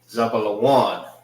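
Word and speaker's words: זבולון: Zabalawan. That's how you say Zebulon in the Hebrew.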